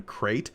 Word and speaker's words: Crait: stuff, there is a subreddit called Saltier Than Crate, as in the planet from The Last Jedi.